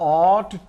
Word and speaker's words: ought: यानी भी चाहिए, और ऑट टू, OUGHT, ऑट टू। तो यहां पर भी देखिए GH साइलेंट हो गया, जो अभी हमने इसके पहले देखा था वर्ड GH का साइलेंट होना।